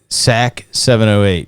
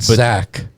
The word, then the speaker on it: TSAK708: So SAC 708. Yeah, not Zach, as Mario likes to say. I've gotten that right. If we get Andrew on here later, I'm still gonna bust on him and pronounce it with a Z.